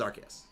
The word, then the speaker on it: Arceus: The name is Arceus.